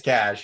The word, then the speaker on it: cache: It's cash. You're the second person I've heard pronounce it as cache.